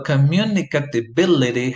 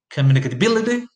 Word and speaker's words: communicability: So communicatability has the main stress on the sixth syllable.